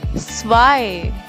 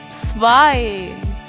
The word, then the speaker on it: zwei: So, just note down this thing that EI is always I.